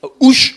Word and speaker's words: cartouche: armée, puisque c'est oral, en insistant sur la dernière syllabe, ouche au lieu de cartouche. Oui, donc on prononce que la dernière et on insiste fortement.